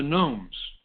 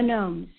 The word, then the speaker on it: gnomes: phone that is this that is spelled gnomes g n o m s a silent G for we tiptoe so